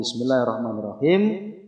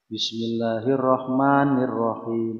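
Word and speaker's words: بسم الله الرحمن الرحيم: Itu ada tasdidnya enggak itu nun? Ada tasdidnya enggak? Enggak ada. Ini kan kita kadang-kadang ada yang bacanya begitu. Bismillahirrahmanirrahim. Ada yang begitu ya? Kayak ada tasdidnya, itu bahaya sekali.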